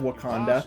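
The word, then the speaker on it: Waconda: No, that is not spelled like the Marvel city of Wakanda, but rather W-A-C-O-N-D-A.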